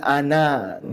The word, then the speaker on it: Anand: I've been speaking with Anand. He told me to pronounce it that way, who is a